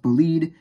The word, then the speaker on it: Bolide: And yes, I know it's technically supposed to be pronounced Bolide, but that sounds stupid to me, and I prefer the term Bolide.